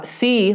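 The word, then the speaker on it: Sea: Now, C, which is spelled S-E-A, operates 3 different businesses, but the biggest and most compelling, in my opinion, is their e-commerce platform called Shopee.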